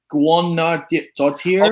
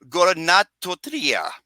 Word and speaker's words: Guðnadóttir: this name, but Hildur Guðnadóttir. Okay. Hildur Guðnadóttir. I think that's how you pronounce it.